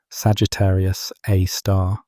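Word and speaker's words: Sagittarius A*: The name Sagittarius A star, pronounced Sagittarius Aar, had entered the astronomical lexicon decades before the stellar orbits conclusively pointed to a black hole.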